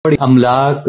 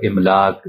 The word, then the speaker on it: املاک: یعنی غلط طور پر املاک، اضلاع اور اقساط وغیرہ بولا جاتا ہے، حالانکہ اس طرح